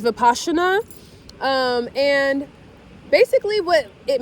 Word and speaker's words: Vipassana: It's actually pronounced Vipassana.